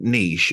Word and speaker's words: niche: it's pronounced in England Niche or nich in America it's pronounced but that you cat you catch well that's from the original French Niche that that is a